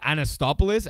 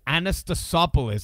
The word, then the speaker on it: Anastasopoulos: Well, I always said Anastopoulos, and then I looked, because I'm reading the articles, and I'm like, it's Anastasopoulos. I'm like, oh, shit, I've been saying it wrong this whole time.